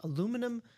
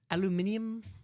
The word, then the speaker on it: aluminium: He says aluminum, or as the British say it, and when he goes to see Dua Lipa, aluminium Mike, or aluminium Alex, and manganese Mike.